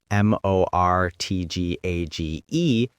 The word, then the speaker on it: mortgage: Notice there's a T in the spelling. M O R T G A G E. But we don't pronounce it.